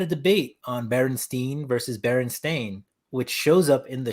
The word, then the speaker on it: Berenstain: But it's like widely accepted that it was Berenstein until probably like the last decade where people were like, no, it's actually pronounced Berenstain, which is weird because, oh yeah, in the bar, that was a great scene.